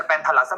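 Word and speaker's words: Panthalassa: क्योंकि जैसे Priya Kumari sir पैंथालासा, मैं बोल तो रहा हूं, जो मैं बोलूं उसे बोलो एक बार प्रोनाउंसिएशन में।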